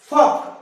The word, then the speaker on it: folk: फक, FOLK, spelling है FOLK, के पहले कौन आया, एल, फक, एल साइलेंट।